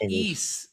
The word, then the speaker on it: Ys: don't don't lose fingers it's pronounced e Chris just play e damn it I think